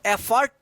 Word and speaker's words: effort: एफर्ट उच्चारण होगा, एफर्ट। इफर्ट मत पढ़िएगा।